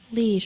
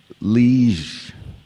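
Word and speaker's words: liege: Lege. Are there any alternate pronunciations? Lege.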